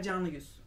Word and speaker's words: Canıgüz: Alper Canıgüz.